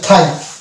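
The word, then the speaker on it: thigh: কে সালে দেখতে পাচ্ছি এখানে জির উচ্চারণ আসে না অর্থাৎ এটা হচ্ছে হচ্ছে থাই তারপর চলে আসবো এখানে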